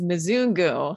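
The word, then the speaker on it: mzungu: the color of the elephant memoir of amazon mazunga okay christine you're just gonna have to tell me right now how to pronounce it it's mizungu and that's kind of a typical way at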